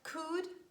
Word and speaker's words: could: and letter l and mostly letter l is silent when it's preceded by vowels aou and is followed by a consonant for example huff cough palm bum walk talk chalk and could would and should never pronounce letter l there is another